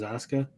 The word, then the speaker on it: Asuka: SmackDown took Asuka, which is weird because there's a U in her name, but everyone says Asuka.